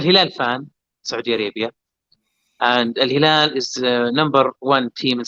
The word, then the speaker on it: Al-Hilal: Am I pronouncing that right? Al-Hilal, yeah.